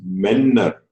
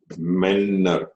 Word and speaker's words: Männer: It is Männer. Männer. Okay. So we'll get a sound there, not a.